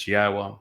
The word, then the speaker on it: Yahweh: U so be aware God's name is pronouncable. It is Yahwa. There is no B sound in the original Hebrew language.